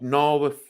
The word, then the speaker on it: Naworth: It's called Narworth Crossing in Cumbria. It's now on my bucket list. And that is spelled NAWORTH crossing.